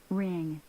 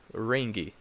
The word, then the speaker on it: ring: it's very strong but with the ng sound the G is not that strong you say mmm for example let's listen to this one ring ring C ring ring